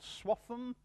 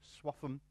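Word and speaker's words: Swaffham: other small items that's what it means and swap em that's how you say it swap em is the name of a village in this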